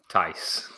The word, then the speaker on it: Tice: And it rhymes with something you say after 69. Tice.